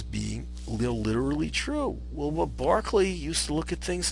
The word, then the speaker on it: Berkeley: Doctrine was George Barkley it's pronounced Barkley like the basketball player not Berkeley although Berkeley California is